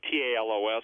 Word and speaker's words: Talos: 100 feet tall, may have been the literal Talos, or T-A-L-O-S. Some people pronounce it Talos.